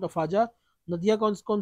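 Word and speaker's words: Afadjato: peak इसका है mount Afza ठीक है डी इसका साइलेंट होगा माउंट अफजा नदियां कौन कौन सी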